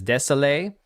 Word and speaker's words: Désilets: This game is made by Patrice, I believe the pronunciation for his last name is Desailly, the dude who helped co-create Assassin's Creed.